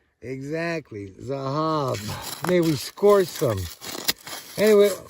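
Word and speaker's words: זהב: Zahab. Spell it. Zion. Uhhuh. Hey. Hey. Bet. Exactly. Zahab.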